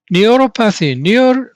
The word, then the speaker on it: neuropathy: Neuropathy, now you are familiar with it.